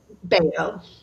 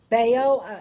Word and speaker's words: Bello: Beo. Beo. It looks like Bellow, but it does.